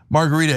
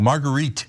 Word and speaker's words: Marguerite: Margarita H in, I always say it wrong, Marguerite H in Portland, $50.